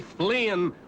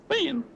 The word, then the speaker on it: Finn: of these boys, Huckleberry Flynn, was an idler, a useless loafer. Finn! Finn! What was that? The idler, the useless loafer. He was Huckleberry Finn, not Flynn.